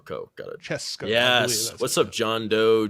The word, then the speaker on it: Francesco: Wait, so it's Francesco or Francesca? Francesco. Oh, cool. Got it. Francesco.